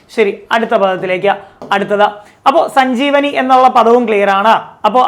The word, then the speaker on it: സഞ്ജീവനി: സഞ്ജീവനി വരുമ്പോൾ സ്ലോയിൽ പറഞ്ഞ് സജീവനി ആണോ? നോക്കിയേ, സജീവനി. അത് ഇവിടെ ആയിപ്പോവും. സജീവല്ല, സഞ്ജീവനി.